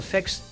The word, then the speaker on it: Xexex: Lanzado en 1991, Vexx, pronunciado Vexx, es quizás el último shooter de Konami, una culminación del arte que habían perfeccionado durante la última década.